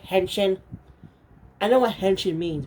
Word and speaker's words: henshin: say it like that they're just saying henshin but saying henching in it sounds so weird like I seriously guys it sounds so weird to me hang chain does anyone